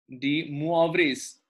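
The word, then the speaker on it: De Moivre: going to talk about the D Mo theorem D moas this the pronunciation is de de theorem okay so the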